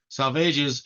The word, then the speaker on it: Salvages: cape and the Northeast Coast of capan Massachusetts salvages is pronounced to rhyme with aages Groner is a